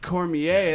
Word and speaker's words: Cormier: Cormier.